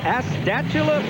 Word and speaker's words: Astatula: Rostetter from Astatula, Florida. How do you pronounce that?